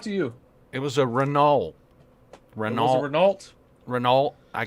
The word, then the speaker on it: Renault: It was a Renault. Was it Renault? Renault, I guess. Or do you pronounce the T at the end?